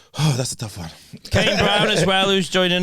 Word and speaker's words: Kane: Kane Brown as well, who's joining us. Kane. Kanye. Kane Yeah. Brown. But I've been called Kanye by white people before.